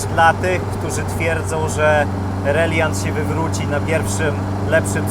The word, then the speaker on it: Reliant: słowami Żeby nie było ja doskonale wiem że wymawia się reliant ale jesteśmy w Polsce i jest to reliant jeszcze się nie wywróci